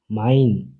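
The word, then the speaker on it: mein: এ ই মিলে হয় আই এ ই মিলে হয় আই মাইন মানে আমার সে হা মিলে হয়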